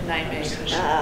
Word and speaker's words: Nijmegen: In Nijmegen.